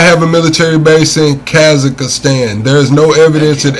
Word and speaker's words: Kazakhstan: Kakistan. Yes. Pakistan. How I spell that?